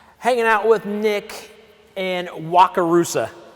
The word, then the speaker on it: Wakarusa: but i sometimes forget how to say it wakarusa wakarusa that's a pretty cool name uh but we're